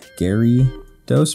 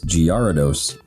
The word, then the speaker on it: Gyarados: like two years ago i always thought it was uh like spelled like g-a-r-y gary dose but it's totally wrong it's giardos anyhow um looking cool